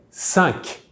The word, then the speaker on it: cinq: We do pronounce that Q in the end, just like a K. However, sometimes we won't pronounce that Q if the word coming after starts with a consonant. I would say that most of the time in real life we will pronounce it though, except for 5 minutes, where we usually say 5 minutes with a silent Q.